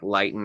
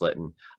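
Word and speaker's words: Lytton: like i said like lighten or litten uh it's pronounced litten um you know they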